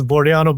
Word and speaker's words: Bordianu: You got it almost right. It's it's Boraniano, but nonetheless, is part.